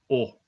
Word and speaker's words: を: Similarly, if we are marking an object in a sentence, we pronounce it as o, but we write it using this wo.